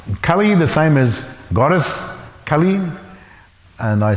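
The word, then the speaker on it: Kālī: said well no there first of all it's Kali the goddess is with a long way Kali and the personality is Kali of the short a so they're pronounced differently but they're also different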